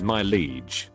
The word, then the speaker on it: Mileage: cards for a kid named mileage pronounced my liege like you would refer to a king both the pronunciation and